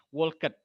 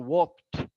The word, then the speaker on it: walked: worked ya ada ed-nya kalau dibaca harfiah walked tapi pronunciation-nya bukan itu walked gitu ya I walked to